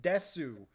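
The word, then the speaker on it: です: Even though it is desu in fucking the way that you write it is desu, it's pronounced des because you don't pronounce the U at the end.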